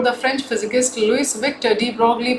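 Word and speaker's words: de Broglie: French physicist Luis Victor debroughly pronounced as Deep Roy 1892 in to 1987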